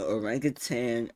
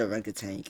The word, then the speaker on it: orangutan: So basically what I'm hearing is an orangutan. That's how you say it. It's not a rank tank. It's a rank. No, it's a rank tang.